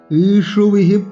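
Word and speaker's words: ইষুভিঃ: দ্রোণঞ্চ মধুসূদন ঈশুভিঃ প্রতিয়োत्स्यामि, এখানে অনেক কাজ। ঈশু, ঈশু মধ্যনাস, ভিতে বিসর্গ আছে, পরে প আছে, বিসর্গটাকে প করে উচ্চারণ করতে হবে।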